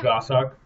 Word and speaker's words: goshawk: goshawk is that how you say it yeah gah suck it was that instead of a Cooper's hawk